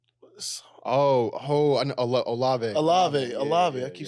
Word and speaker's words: Olave: Olive. I know, Olave. Olave. I keep saying his fucking name wrong.